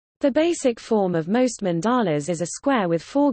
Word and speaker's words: mandala: A mandala, emphasis on first syllable, Sanskrit mandala, mandala, literally, circle, is a spiritual and ritual symbol in Hinduism and Buddhism, representing the universe.